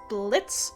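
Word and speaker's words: Blitzø: trying to to analyze Blitz the O is silent I was working on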